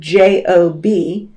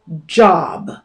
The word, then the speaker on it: Job: That word, J-O-B, usually is pronounced job.